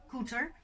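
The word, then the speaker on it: Koeter: her name is cynthia cuter that's how you pronounce it cuter um she is my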